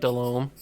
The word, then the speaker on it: Delhomme: Delhomme, or Jake Delhomme, if you want to pronounce it correctly.